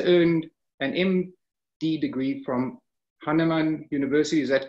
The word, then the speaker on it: Hahnemann: Steinberg received his DDS degree from Northwestern University School of Dentistry and later earned an MD degree from Hahnemann University. Is that correct, the pronunciation?